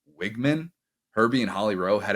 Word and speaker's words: Weigman: to Fowler continue to mispronounce his last name as Wegman when it's wigman Herby and Holly row